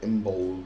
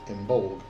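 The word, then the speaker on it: Imbolc: wrong when they were saying imul and it's not imul and um so know but then I started searching everywhere else and trying to find the pronunciations and all of this stuff and it turns out it's inul and not how I thought it was pronounced and then I was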